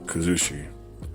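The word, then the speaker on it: kuzushi: And those 4 parts are kumikata, kazushi, sakuri, and kake.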